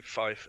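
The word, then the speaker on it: five: 5 will be said like fife, F-I-F-E. And last but not least, sure most of y'all can figure this out. 9 will be said like niner. So tree, fife, and 9.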